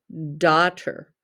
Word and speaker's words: daughter: the word daughter the duh makes the sound of d like always the a-u-g-h makes the sound of short o you hear the t and then er you hear the er sound daughter but it's spelled t d-a-u-g-h-t r it's the correct way to spell that word that's why it is a trick word